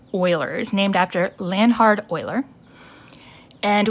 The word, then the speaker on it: Euler: is called the euler number and it is pronounced euler's named after lanhard euler and we call this